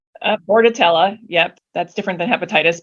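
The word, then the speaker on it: Bordetella: there are other vaccines I think I'm saying it right or wrong Bordello that's the one with the hepatitis bordatella yep that's different than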